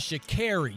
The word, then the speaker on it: Sha'Carri: Her name is Sha'Carri, not Sha'Carri.